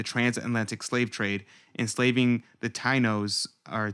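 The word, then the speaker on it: Taíno: From the Huffington Post, they said that Columbus initiated the transatlantic slave trade, enslaving the Tainos or Tainos. Is that how you say it? Taino. I think it's pronounced Taino, but Tainos, telling his men he could take as many as they please.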